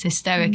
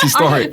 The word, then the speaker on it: historic: It's hysteric. And as a boxing fan... Hysteric? How do you say it? Hysterical. That's historic.